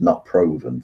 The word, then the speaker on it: not proven: got innocent guilty and not proven which is pronounced not proven for some reason god damn